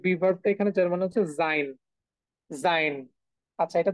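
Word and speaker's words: sie: উচ্চারণটা আমরা করতেছি হচ্ছে জি হ্যাঁ জি কেন করতেছি কারণ এস এর যে উচ্চারণ সেটা হচ্ছে জেড এর মত দ্যাটস হোয়াই ওকে এই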